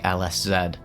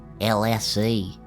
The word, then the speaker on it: LSZ: I can't even tell you how much I wanted to say LSZ, but um to appease my American audience, I decided to give in and pronounce it LSC.